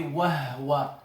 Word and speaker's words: وهو: How do they pronounce it? With sukoon. So they say wahwa.